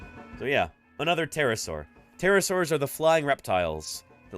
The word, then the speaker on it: pterosaurs: are indeed pterosaurs and the word pterosaurs got a silent P at the front just like just like